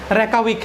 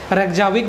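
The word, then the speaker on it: Reykjavík: Iceland का capital जो है वो रेकाविक है। ठीक है, इसका प्रोनाउंसिएशन कई लोग रेक्जाविक भी कर देते हैं, रेकाविक।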